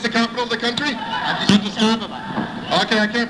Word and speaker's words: Addis Ababa: I know the capital of Ethiopia, it's Abydos. Is that correct? What? Abydos, Ethiopia, that's the capital of the country? Addis Ababa.